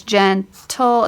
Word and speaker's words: gentle: So yeah, if you saw something like gentle, J, that's a soft G. I think it's a J, brev, breve over the short E, and tull, right? That's a silent E on the end, but it's gentle. It's actually 2 syllables. You get the ul sound. So you hear a vowel sound when you go between the T and the L, but you have to see it.